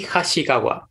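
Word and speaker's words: Hasegawa: So, with the, tell me if I mispronounce this, the Hasagawa family, is that how you pronounce it? Nico, you have more experience with the Japanese language than I do. You said it's Hasagawa, correct? But it's... Yeah, it would be Hasagawa. Hasagawa.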